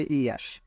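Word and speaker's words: heir: হি ইজ অ্যান R dash the thrown, এখানে হচ্ছে আর উচ্চারণ হচ্ছে ইয়ার, মানে আর, হি ইজ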